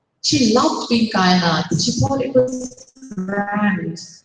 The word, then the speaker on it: Kainat: It was just that pronounced with its vowels compressed instead of undulating, so that it ended up rhyming with why not.